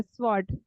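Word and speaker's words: sword: स्वॉर्ड ओ आ रहा है। ओ ओ साउंड हो रहा है। जो ओ है ना वो ओ का मीनिंग बना रहा है। वैसे वर्ड की स्पेलिंग क्या होती है? डब्ल्यू आर डी वर्ड लेकिन हम लोग उसको स्वर्ड नहीं बोलेंगे। उसको क्या बोलेंगे? स्वर्ड। स्वर्ड ओ की मात्रा आएगी।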